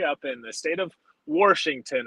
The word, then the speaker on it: Washington: in the state of Washington as we say it here in Pittsburgh others would likely pronounce it Washington I don't see an r on the screen not yet there isn't